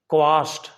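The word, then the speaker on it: quash: यहां मैं खास तौर पर बताना चाहता हूं यह जो शब्द है क यू ए एस एच इसको ज्यादातर मैंने देखा है क्वश बोलते हैं। जबकि इसका सही उच्चारण है क्वाश।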